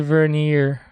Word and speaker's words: vernier: The vernier. Vernier? Backpack? Vernier? Vernier? Let's find out. How do you pronounce that? Vernier. Vernier. Vernier. So US vernier. UK vernier. Vernier.